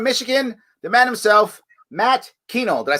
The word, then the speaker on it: Kuehnel: In Warren, Michigan, the man himself, Matt Kuehnel.